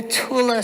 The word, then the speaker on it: Thule: negative usurped that line men were in the Tula society and yes that's how you say it